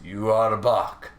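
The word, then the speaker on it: Yhwach: two words and uh in Japanese that's how they pronounce yua's name is you are a buck you know so I'm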